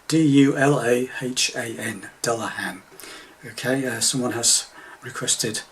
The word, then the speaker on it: Dulahan: Music from a Celtic band called Dulahan. I think that's the right pronunciation. D-U-L-A-H-A-N, Dulahan.